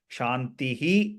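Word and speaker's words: शान्तिः: So wherever you see this visarga followed by the last akshara ksha, we'll have to pronounce the visarga explicitly, although the visarga comes in the middle of a vakyam or a sentence. So that is why, as opposed to the other places, here we are pronouncing it explicitly. We are saying Shantihi, then Shantirevacha.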